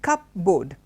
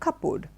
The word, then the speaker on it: cupboard: words together and we create a word like cup board because that's what certainly it's a cup and as a board so you bring them together and you call it a couple it is not a cupboard it is a